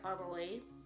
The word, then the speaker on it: Annelie: And I would pronounce it Annalie.